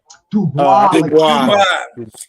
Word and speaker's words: Dubois: How you pronounce his name? Dubois. The Frenchman.